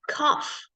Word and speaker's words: cough: And cough, also F.